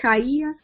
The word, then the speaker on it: Kaia: author all right i've been saying your name wrong for 50 million years it's kyia yes i like that